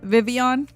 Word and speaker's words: Vivian: So now that I know it's Vivian, I'm like, oh, okay, that makes sense. That makes sense. It sounds good as what did I say? Vivian, right? That's how you say it, Vivian.